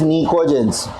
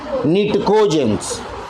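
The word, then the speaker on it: pnictogens: वहाँ पर P से ही शुरुआत होगा अल्फ़ाबेटिकली, बट P साइलेंट है. It is actually Nicogens. It is not Nitco.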